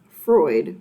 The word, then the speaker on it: Freud: I'd just like to think of Freud rhymes with avoid.